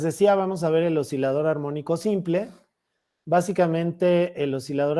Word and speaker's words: oscilador: aquí o sea esta pronunciarla como oscilador eso es incorrecto eso es un oscilador así como si tuviera una s nada más se dice oscilador nada más okay Bueno entonces tengo